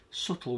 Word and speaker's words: subtle: that little bit of subtle with a silent b little bit of reflection